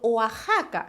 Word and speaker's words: Oaxaca: del país por ejemplo oaxaca se escribe con equis pero se pronuncia como si fuera una jota texas se escribe con